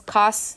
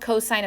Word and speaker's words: cosine: my pet peeves is calling this cos Theta no it's called cosine of theta you're going to pronounce